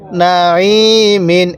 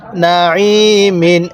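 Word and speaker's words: ناعم: মিম দুই জের মিন নামিন হ্যাঁ কিভাবে পড়বো নামিন এরকম ভাবে শিখবো আমরা কিন্তু অনেকেই এই আইনটাকে হামজা উচ্চারণ করি দেখুন আইনটা যদি গলার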